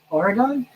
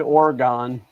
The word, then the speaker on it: Oregon: Maybe you said Oregon. There's no E at the end of. Oh, so it's Oregon?